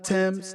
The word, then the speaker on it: Tems: how she has this how that second songwriter Tim's t-e-m-s is how she has this how they pronounce the name made a bold-fashioned statement at